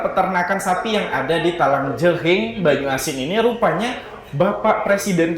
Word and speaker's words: Talang Jering: Gimana sih bacanya, Dela? Talang Jering ya, pakai G dan H.